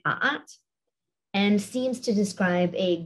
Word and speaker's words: a'at: The first word at the top here, written in hieroglyphs, was probably pronounced something like a'at, and seems to describe